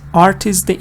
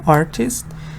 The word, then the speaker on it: artist: Again on art, on the important word.